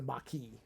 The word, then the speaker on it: Maquis: mckee were the maki how are you supposed to pronounce it i never get it right i think it's the maki essentially you had people